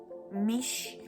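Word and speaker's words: Michi: Mas existe um território meio que neutro, que é um colégio chamado Mitch. Eu acho que é Mitch que se pronuncia, porque é M-I-C-H-I. Eu imagino que tenha som de T.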